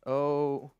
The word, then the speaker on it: O'Leary: Did I pronounce that right? Oh, almost. O'Leary.